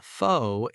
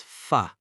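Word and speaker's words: phở: It is not pho, it is pho.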